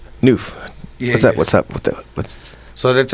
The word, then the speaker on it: Nuff: So it's just Noof for short. Noof, Yeah, for sure. It's spelled Nuff, but it's pronounced Noof. Okay.